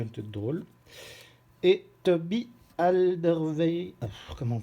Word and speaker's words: Alderweireld: Et Toby Alderweireld, comment on prononce celui-là?